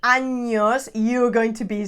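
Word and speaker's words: años: if you don't say anos if you don't pronounce the n yeah right like anyos you're going to be saying something completely different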